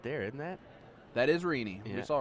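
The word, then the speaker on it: Rene: is rini you saw rini uh do very well last night oh it's rini i think i've been saying remy this whole time my apologies it's r-e-n-e and it's rini is how she pronounced okay all righty well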